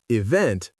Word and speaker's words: event: The correct answer is B, stressed on the second syllable, hotel, event, police.